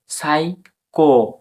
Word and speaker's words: psycho: এবার এস ওয়াই, SYCHO, সাইকো, সাইকো এলো, লো, সাইকোলো, JYG, সাইকোলজি।